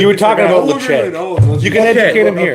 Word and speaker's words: Ledaig: my favorite expression of whiskey is Lecheg. Lecheg is Gaelic for safe haven. It's spelled Ledaig.